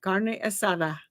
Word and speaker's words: carne asada: assada all the time if you're gonna say it say it right carne asada uh now do we